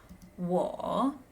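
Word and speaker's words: 我: Next we have wo, wo, wo, wo, wo, and it means me or I.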